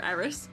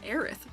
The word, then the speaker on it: Eris: Can we get a round of applause for Eris, please? Oh, your name is said like Aerith from Final Fantasy, but spelled completely different.